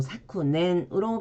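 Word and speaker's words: 昨年: 작금 할 때는 사콘 해서 원래는 사쿠인데 뒤에 오는 발음에 의해서 초금이 됐고 그리고 작년 이건 그대로 사쿠넨으로 발음을 해줍니다.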